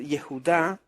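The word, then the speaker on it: יהודה: la torá por ejemplo en vez de decir yehuda se dice Judá con j o en vez de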